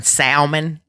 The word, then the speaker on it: salmon: Yeah, the S is silent. Like the L in salmon.